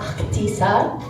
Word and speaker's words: Ahtisa: It's actually supposed to be pronounced Akitisa.